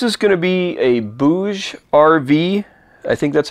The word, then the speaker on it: BougeRV: today uh this is going to be a bouge RV I think that's how you pronounce it b-o-u-g-e-r-v solar panel now this one